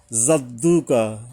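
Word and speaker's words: جَدُّكَ: টানতে হবে লামের উপরে জাদ্দুকা জিমটা কিন্তু জিহ্বার মাঝখান থেকে জিহ্বার মাঝখানে একটা চাপের মত আসবে জাদ্দুকা ওয়ালা ওয়ালা এখানে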